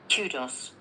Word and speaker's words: kudos: But in American English, we've got a different pronunciation. That's Kudos. Kudos. Kudos, actually. Kudos. Kudos. But you will also hear kudos. Kudos. Yeah, that's ku, not Q.